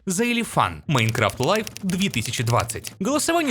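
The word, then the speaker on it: Xilefian: чуть не забыл его никнейм произносится как заелифан Minecraft Live 2020 голосовой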